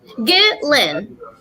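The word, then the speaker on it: Ghislaine: else is true but it's not about um get lynn get lynn i had to listen to it like a bunch of times i had to hear her brother say her name a couple times smart that's whatever you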